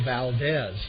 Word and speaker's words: Valdez: and in center field is number 20 Jose Valdez v a ldez batting second and at third